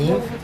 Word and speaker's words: Yves: my name um like someone would ask Eve like Adam and Eve and they would say no Eve like Eve St lauron wow so it sounded